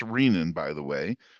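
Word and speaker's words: renin: and it is pronounced rein by the way as in renal artery renal cortex.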